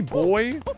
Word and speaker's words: buoy: Buoy boy. Went the you know correct pronunciation of that.